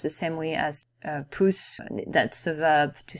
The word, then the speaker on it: Pousse: Thumb is said Puss in French, though it's not spelled the same way, it's pronounced the same way as Puss.